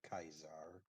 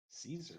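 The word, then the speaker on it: Kaiser: good reason but yes the name is actually pronounced kaizar caesar is just the degradation of language it would be like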